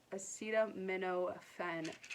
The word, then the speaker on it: acetaminophen: Yeah, acetaminophen. Duh. That's how you pronounce it, Christina.